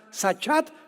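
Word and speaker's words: שחת: La palabra corromper también es importante porque la palabra hebrea sachat se escribe con s como suena sachat con t de tío al final.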